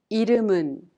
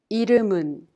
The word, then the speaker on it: 이름은: The final consonant M in the second syllable 름 of 이름은 is prolonged to the next syllable 은, so we pronounce it 문. Likewise, Justin이에요 is pronounced Justin이에요. Now, let's try it again. 이름은 이름은 Justin이에요.